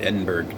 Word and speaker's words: Edinburg: but it's edenburgh it's I believe it's spelled the same way but everybody pronounces it Edinburg down there um there is a